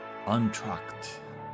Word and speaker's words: entr'acte: Oh, I guess the E would be silent. That makes sense. I forgot the basic rule of French. Entr'acte. Just entr'acte.